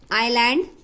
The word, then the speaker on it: island: G is not pronounced in this word. Island, S.